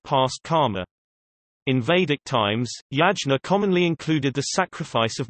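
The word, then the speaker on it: यज्ञ: The Sanskrit yajna, modern Hindi pronunciation, yagya, is often translated as sacrifice, also offering, oblation, or more generically as worship.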